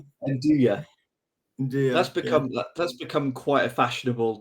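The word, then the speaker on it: 'nduja: Is it Enduya? Enduya.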